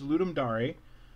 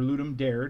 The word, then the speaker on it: Ludum Dare: So, LD37, which is Ludum Dare, or Ludum Dare, depending on how you want to pronounce it, is a game jam that is put on every couple months.